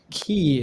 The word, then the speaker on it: Ki: Key is how you say the name.